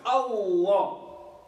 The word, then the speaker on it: Allah: Because if you put a shadda on the Lam, that means that you pronounce it twice. Allah.